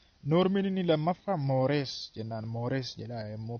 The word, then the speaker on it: mores: Mores jedha immoo pronounce gootanii mores jennee pronounce goona.